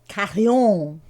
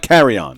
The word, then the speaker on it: Carillon: Carillon. Carillon. Carillon. Carillon. It's not carry on.